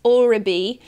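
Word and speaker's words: Oribe: Also should point out, I said Orbi, it's Orbi. I got the I and the B the wrong way around.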